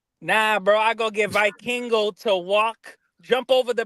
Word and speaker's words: Vikingo: see Vicando Vik I don't pronounce how they pronounce Vikingo. Vikingo.